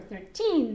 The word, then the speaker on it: thirteen: hundred and fifteen thirteen remember thirteen the accent is at the end okay thirteen 2180 five